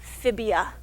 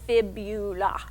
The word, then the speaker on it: fibula: is called the fibula please don't call it the phibia to rhyme with the tibia your shin bone is the tibia the little bone on the outside of your lower leg is the fibula and then these are